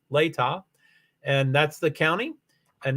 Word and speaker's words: Latah: I thought it was Latah because I thought it was Indian, but it's Latah.